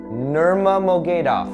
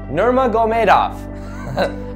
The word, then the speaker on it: Nurmagomedov: Conor McGregor versus Khabib Nurmagomedov. Nurmagomedov. I've been trying for a while to say it correctly just to pay respect, but Nurmagomedov.